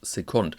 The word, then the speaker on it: Second: French artist Romaric André, better known as Second. I think the French pronunciation is appropriate here.